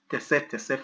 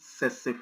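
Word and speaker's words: tsetse: used to call this tese fly. This is not tese. It's not pronounced tese fly. So it's not tese fly. It's pronounced sese fly.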